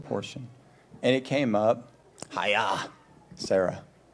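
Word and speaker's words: Chayei Sarah: And it came up, Hiya, Sarah. That's how Matthew told me how to say it, which means she lived.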